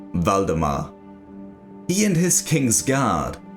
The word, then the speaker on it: Valdemar: the warn and only king valdemar not vladimir or vladimir as many might think it is pronounced valdemar he and his king's